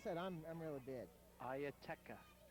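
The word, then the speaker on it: Ietara: Ieteka. Just like it's spelled.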